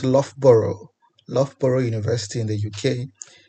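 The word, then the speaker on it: Loughborough: and in particular we at lboro University it's pronounced lboro lboro University in the UK in search of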